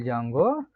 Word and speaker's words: Django: And another one is the Django framework, where D is silent.